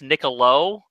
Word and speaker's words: Nicolau: I hope I pronounced that right. I have heard, you know, it looks completely like Nicolau. I have heard it pronounced Niccolo. Oh, but okay. You know what? I still see it as, every time I see